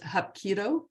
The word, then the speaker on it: hapkido: a third degree black belt and is it pronounced hapkido correct oh good got that this morning and